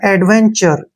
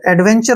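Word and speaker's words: adventure: होगा ध्यान रखने है टीयू का उच्चारण च के रूप में होगा और आर का उच्चारण यहां पे र के रूप में होगा ठीक है ना और ई का उच्चारण हम कभी नहीं करते हैं तो ये बन गया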